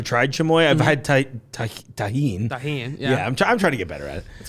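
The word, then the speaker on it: Tajín: Put some tajin in it for everyone. Thank you for pronouncing it correctly.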